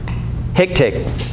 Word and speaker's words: HICTIC: of this, so I came up with the way to pronounce this. It's HICTIC. HICTIC.